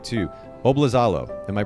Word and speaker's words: Oblizalo: me make sure i get this right too bob lazalo am i pronouncing that correctly dude you nailed it i